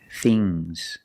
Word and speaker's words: things: Remember with NGS, it makes a soft G. Bangs. Bangs. Bangs. Things.